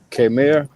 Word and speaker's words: Khmer: K-H-M-E-R. Come here. You Okay, said it right.